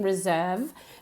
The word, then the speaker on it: reserve: But very important, if you're using reserve, make sure that you use that you pronounce it correctly with that voiced V, right?